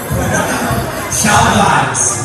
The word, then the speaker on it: XIAOVIBES: It is pronounced as Shoutouts.